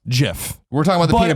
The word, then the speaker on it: GIF: So the GIF or peanut butter. GIF? GIF or GIF. The peanut butter, right? Now the answer is GIF.